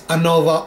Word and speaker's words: ANOVA: different statistical test and that is Anova or a Nova the pronunciation is not important as both are considered valid and they are used interchangeably the term Anova stands for